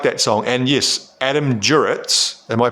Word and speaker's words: Duritz: Adam Duritz.